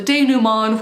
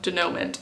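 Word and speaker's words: dénouement: have the resolution slash the day Numan which someone pointed out to me last time but that's how you pronounce it and not whatever I was saying before denouement I think they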